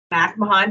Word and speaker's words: McMahon: I have Patrick McMahon.